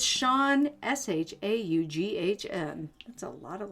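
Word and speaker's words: Shaughn: people's usernames are always so great and it's Sean s-h-a-u-g-h-n that's a lot of letters what essay s-a-j-u-g-h-n is that's pronounced Sean well how else would you pronounce it well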